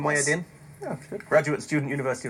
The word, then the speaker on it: Mohyeddin: Samira Mohyeddin, is that the right pronunciation, Mohyeddin?